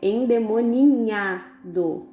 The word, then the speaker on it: endemoninhado: Então, o jeito certo parece errado, mas o jeito certo, tanto da pronúncia quanto da escrita, é endemoninhado, ok?